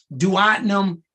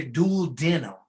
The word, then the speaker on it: duodenum: You will hear duodenum and you will hear duodenum.